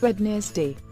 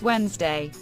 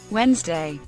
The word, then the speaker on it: Wednesday: Pizza repeat after me pizza Wednesday it's not wedne day it's Wednesday Wednesday lingerie please do not try to pronounce it the way it's spelled it's not